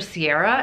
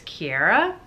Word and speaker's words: Kiera: listening to the audiobook so i was calling her sierra and it's kiera so that was very